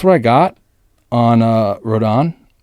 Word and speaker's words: Rodon: i got on uh rodon i totally missed pronounced his name earlier to somebody i said rondon so i apologize to